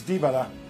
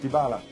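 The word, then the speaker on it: Dybala: don't speak Polish but some people believe that the correct polish pronunciation is dibala and not devala so for em Poland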